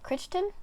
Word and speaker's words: Crichton: And then the next one I have is one by Michael, I don't know how to say his last name, Crichton.